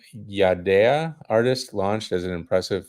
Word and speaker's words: Yadea: It's apparently Yadea is the Okay. correct English pronunciation, and apparently in Chinese it's Yadi.